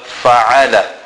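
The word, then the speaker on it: فعل: Always remember, Ain is pronounced from the center of the throat. We must actually feel it emitting from there. We must feel it being pronounced from there.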